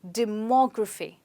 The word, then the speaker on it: demography: have this word well in this word we stress on M O okay so you say it like demography demography so the stress is on more let's try it again